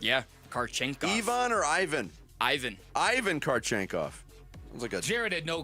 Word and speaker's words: Ivan: Ivan.